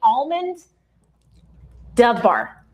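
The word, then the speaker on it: Almodóvar: Julie said, you got to say almond Dovar, which I love because it's chocolate, and I still said it wrong. Almodovar.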